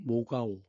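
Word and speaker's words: 莫高: 이 사진은 막고라고 읽는데 중국 발음은 모가오, 막고굴이라고 얘기하는 겁니다.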